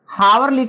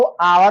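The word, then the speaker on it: hour: पर हमारा है अवर हावर लेकिन इसका जो उच्चारण होगा वह अवर होगा आयन का उसे करेंगे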